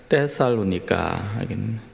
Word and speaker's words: 데살로니가: 데살로니가 전서 2장 1절에서 4절까지 말씀입니다. 2장 1절에서 4절. 우리 한 목소리로 한번 같이 읽어 보겠습니다. 데살로니가 전서. 원래 그 나라로 발음하면 데살로니카 데살로니카전서 2장 1절에서 4절 한 목소리 같이 읽습니다.